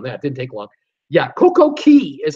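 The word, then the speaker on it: CocoCay: correct me on that didn't take long yeah koko key is how you pronounce it cuz it's spelt ca why I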